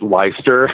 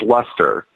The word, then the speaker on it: Leicester: I did a documentary I called it leister because it looks like life sir but its luster Leicester mass better you than